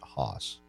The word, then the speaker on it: Haas: had a question for mr. Haas or Haas I'm sorry you pronounce it Hoss or at least he does so it's a very